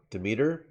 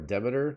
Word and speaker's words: Demeter: series series is equal to demeter or demeter depending on how you pronounce it uh the goddess